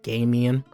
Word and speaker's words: Gamium: Now you guys told me it's pronounced Gamium, right?